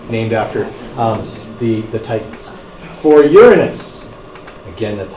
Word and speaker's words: Uranus: so they're all named after the Titans for Uranus again that's how you pronounce it thanks all of its moons are